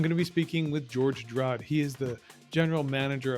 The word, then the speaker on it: Georg Draude: The German pronunciation is more like Georg Draude. And Are you going to make me try that? no, you don't need to. It took me 50 years of my life to understand that my family name, if I pronounce it French, everybody understands it. If I pronounce it German, nobody understands it.